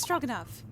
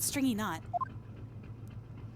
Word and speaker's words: Stroganoff: It's Stroganoff, not stringy knot.